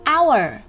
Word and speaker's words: our: Từ tiếp theo là của chúng tôi, đó là our. Our. Our. Hai âm tiết đúng không nào?